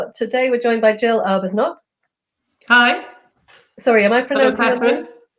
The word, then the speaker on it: Arbuthnott: Today we're joined by GIll Arbuthnott. Hi. Sorry, am I Hello, pronouncing your name?